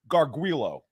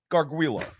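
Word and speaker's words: Gargiulo: from South Carolina Theos right there it's it's garguilo garguilo Garo you got to pronounce it right you got to pronounce it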